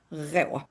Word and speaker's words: rå: So in between row and raw, rå. And then with my southern Swedish R is rå, but it's hard to pronounce. However you want to pronounce it is fine. Rewa.